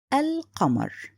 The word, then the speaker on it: القمر: In this case, it's written and pronounced. So the word here, al-qamar, which is the same example as the previous words.